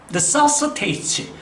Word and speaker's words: necessitate: AT로 끝나는 말의 액센트 법칙은 그것으로부터 두 번째 모음에 항상 액센트가 있어요. 두 번째 모음에. 그래서 우리가 교육을 한다? 그러면 AT로 끝나니까 여기가 모음, 여기가 모음이니까 educate 이렇게 발음이 되는 거죠. 그러면 요 발음도 바로 뭐냐? AT로 끝났으니까 요게 모음, 요게 모음, 두 번째 모음이니까 necessitate.